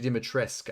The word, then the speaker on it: Dimitrescu: Sorry, Lady Dimitrescu. I shouldn't say "ku" on the end. That's not correct pronunciation.